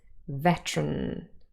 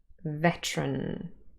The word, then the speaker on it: veteran: Here, if we say it fast, the 2 schwas are dropped again, and it's just veteran, veteran.